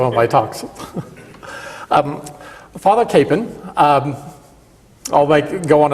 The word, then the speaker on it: Kapaun: Capon or father Capone um it is actually pronounced father capan um and whenever I try to make it